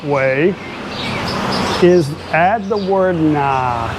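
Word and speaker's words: นะ: So what I recommend you do, a more polite way is add the word Na, n a a.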